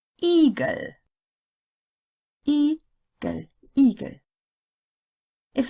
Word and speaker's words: Igel: The I sound is long, you've heard this, when it's followed by a single consonant that would belong to the next syllable if separated. Igel.